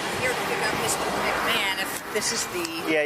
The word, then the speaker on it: McMahon: Even though it's spelled not... Yeah, it's McMahon.